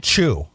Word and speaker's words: Chu: The man's first name is Chu, pronounced C-H-O-O. Okay. Chu.